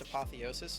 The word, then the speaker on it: apotheosis: Real quick, someone in the Twitch chat got mad at me for telling you that it was pronounced apotheosis instead of whatever you said, and I just want